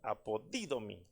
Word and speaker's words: apodidomi: Fui a investigar la palabra recompensa y esa palabra recompensa es la palabra apodidomi, porque lleva acento en la i, apodidomi, que es el numeral, ahí usted lo mira, 591, y esta significa regalar, devolver.